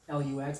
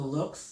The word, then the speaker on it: Lux: Some people pronounce it Lux, Lux, but it's Lux.